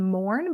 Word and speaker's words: Moran: then last name Mourn, but it's spelled Moran.